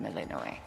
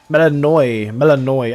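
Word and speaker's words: Melinoë: Done, Melanoi. Melanoi. I've been saying it wrong this whole time. Melanoi. Not Melano.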